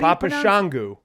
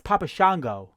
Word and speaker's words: Papa Shango: his name how you Pap shangu what' you think it was Papa shangu it's Papa Shango Shango whatever Shango shangu